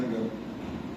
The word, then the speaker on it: Jan Gehl: Ele é dinamarquês, tá? Se pronuncia Jan Gehl.